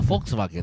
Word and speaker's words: Volkswagen: And because Germans pronounce their W's as V's. That's why it's a Volkswagen. Yeah, it's a Volkswagen.